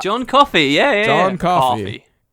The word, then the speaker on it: Coffey: John Coffey. Like the drink, but not spelled the same.